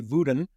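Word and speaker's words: Vodun: such things as like what we call Voodoo but it's really voden um that's how they pronounce it in the fungi language um and we have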